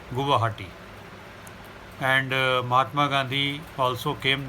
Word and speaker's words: Guwahati: Its pronunciation, if you see, Guwahati. Guwa is your betel nut, which is eaten with pan or betel, and Hati is the market.